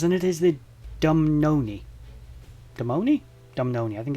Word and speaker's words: Dumnonii: I'm trying my best with these pronunciations, and it is the Dumnonii. Dumnonii? I think it's the Dumnonii.